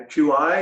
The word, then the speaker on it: Qi: with Pyg oMG and Qi is our life force or energy so when we say energy is spelled Qi not CH I that has a different meaning pronounced the same so it's a scrabble